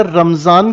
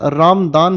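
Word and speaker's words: Ramadan: बेटा रमजान की जगह इसकी करेक्ट प्रोनाउंसिएशन रामदान है।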